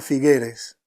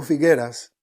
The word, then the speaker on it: Figueres: ciudad que se llama figueres figueres o figueras ya saben que en catalán las cosas no se pronuncian igual en español algunos le dicen figueres otros le dicen figueras esto es un una